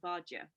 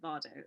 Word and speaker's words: Vardø: absolutely remote speck called Vardø. At the time I pronounced it Bardot, of course.